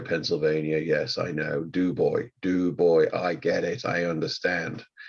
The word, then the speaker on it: Du Bois: I mean, there's a pronunciation and I rarely get it right. People of Du Bois, Pennsylvania, yes, I know. Du Bois, I get it, I understand.